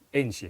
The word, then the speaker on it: Ange: Bacanya Ainge ya. Ainge. Ange apa Ainge? Ainge Postecoglou sih mereka Banyak nyebutnya.